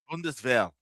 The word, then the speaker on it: Bundeswehr: Is that how that's pronounced, Anima? Bundeswehr.